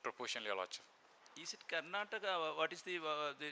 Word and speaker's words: Karnataka: Is it Karnataka? What is the name of that particular, this? Karna? Your Lordship, it's Karnataka. Ah, that is a. Your Lordship. Pronounce it as Karnataka.